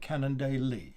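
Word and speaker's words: Cannondale: brush over the day so long as you get that final emphasis on the e at the end of the word and you get canon daily okay writing this down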